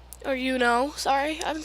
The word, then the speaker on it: Yuno: But there isn't too much character development besides Yuki and Uni. Or Yuno, sorry, I've been saying her name wrong.